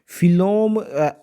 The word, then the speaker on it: phloem: फिलोम में एफ आता है, पीएच एफ की तरह ही प्रोनाउंस करते हैं, और फूड में भी एफ आता है।